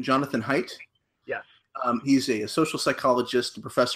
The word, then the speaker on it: Haidt: So the book we're going to be discussing is, and I think this is the proper pronunciation, Jonathan Haidt.